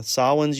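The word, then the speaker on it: Samhain: Uh, Sawin's usually the one that most people get wrong, but we've heard over and over again that it's not Sam Hayne.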